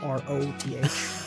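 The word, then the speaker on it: wroth: wrote it into Microsoft Word I wrote w r o t h and I thought that was like a different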